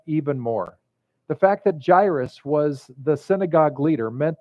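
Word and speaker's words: Jairus: the synagogue named gyrus everybody say gyrus gyrus because that's the way you pronounce his name came and when he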